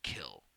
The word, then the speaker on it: kiln: by firing in a kiln kiln is spelled k-i-l-n and most people don't pronounce the n they just say kill that's kind of a